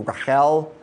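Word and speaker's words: רָחֵל: beautiful girl and actually the hebrew pronunciation of what was probably closer to raquel but we're going to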